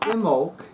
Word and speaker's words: Imbolc: want to talk to you about imul so imul is spelled capital i m as in Mary B